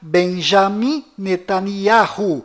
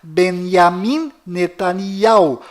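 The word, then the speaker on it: בנימין נתניהו: bom volta no assunto fora de Israel o nome deste primeiro-ministro é pronunciado Benjamin metaniarro mas dentro de Israel o nome dele é pronunciado benyamin netanyahu confira fora dentro e fora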